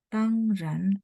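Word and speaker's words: 当然: Ini bacanya tangran yang artinya tentu, pasti ya.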